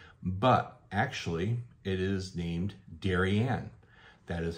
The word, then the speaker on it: Darien: would say and we think of it as Darion but actually it is named darianne that is how the locals pronunciate their names and I didn't even know